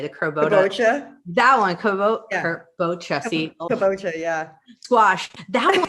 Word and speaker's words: kabocha: Southern California was like, oh my gosh, the crobota, I can never say it right. The crobota. That one, kabocha, see?